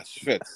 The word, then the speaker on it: schvitz: nitpicks is from the was it Schvitz? Is that how you say it? Am I saying it right? Yeah, Schvitz. That's, I think it's Yiddish.